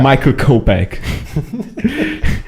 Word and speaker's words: Michael Kopeck: Michael Kopeck. That's the way you should pronounce his name.